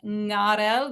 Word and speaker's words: arel: So sometimes you have arel, or in this case it's pronounced ngarel because that ayin is pronounced as a ng in Judeo-Italian.